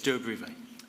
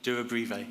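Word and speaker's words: Durobrivae: from the excavation of, now, how do I pronounce it? It's Duabrive. Do it again. Duabrive.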